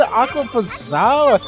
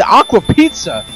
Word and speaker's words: Aquapazza: Aquapazza. At first, I thought it said Aqua Pizza. I thought it said Aqua Pizza at first, but I forgot it had the that's on the I in it.